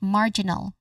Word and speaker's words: marginal: All in all we put them together we get marginal. First syllable is the stress syllable here again marginal.